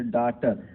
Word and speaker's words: daughter: जैसे डाटर, DAUTER भी डाटर हो सकता था, लेकिन GH यहाँ पर क्या है, साइलेंट है, तो DAUGHTER, डाटर मीन्स बेटी।